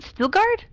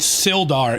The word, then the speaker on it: Sildar: Is it Stilgard? It's Sildar. It's spelled wrong Sildar.